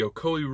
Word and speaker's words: Ocoee: The Ocoee River, I think that's how you pronounce it. O-C-O-E-E.